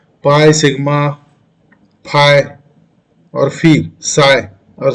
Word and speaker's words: psi: Then after phi, there is a C or psi. Dollar backslash PSI. P is a silent. P we do not pronounce, isn't it? P is a silent, just like the psychology in which first letter is P.